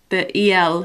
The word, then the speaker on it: el: I know he's trying to pronounce it like the el for, it's not el, but it's also not ul. It's kind of in the middle. It's like a ul sound.